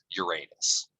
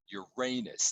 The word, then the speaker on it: Uranus: that's why it's actually Uranus and that's actually how the old Greek was pronounced as well because it comes from